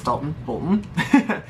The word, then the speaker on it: Dalton Bolton: It's Dalton Bolton. It rhymes.